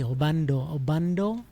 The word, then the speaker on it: Obando: Is it Obano or Obano or Obando? It's this silent D. Obando.